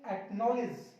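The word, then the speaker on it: acknowledge: अब इसमें तो देखो के से पहले सी है, इसको भी नहीं पढ़ेंगे। एक्नॉलेज, एक्नॉलेज।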